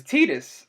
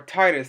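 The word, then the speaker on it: Tidus: which was which was tetus or Titus however you want to pronounce it like there two different pronunciations for it um the reason why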